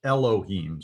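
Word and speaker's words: אֱלֹהִים: word for god in the bible it's called elohim so let's pronounce it syllable by syllable lo he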